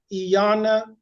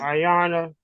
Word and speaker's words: Iyanla: So Gregory, let's see what I always pronounce her name wrong, but Iyanla, is that? Ayana. Yes, Gregory, let's see what she has to say about it.